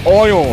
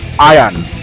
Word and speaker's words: Ayan: by aron mukherjee yes the pronunciation is oil and it's not iron as pronounced by the non-bombs this movie is produced